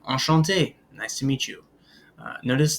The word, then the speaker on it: enchanté: Since I'm male, I don't write the E, but either way, they're pronounced the same. Enchanté, enchanté. They are pronounced exactly the same.